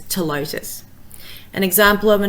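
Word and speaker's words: Ptilotus: It's the same when you see a Latin name which is PT, you don't say the P. For example, Telotus, which might look like it should be pronounced as Ptelotus, it's Telotus.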